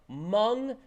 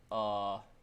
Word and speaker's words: Hmong: Amy Klobuchar just said that Hmong. It's funny, I know how to spell Hmong because Hmong has a silent H in it.